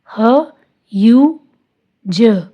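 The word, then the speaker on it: huge: ह यू ज, ह्यूज, ई साइलेंट।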